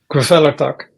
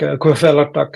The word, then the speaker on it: Kvelertak: I mean, so but I think Kvelertak is the way to pronounce it.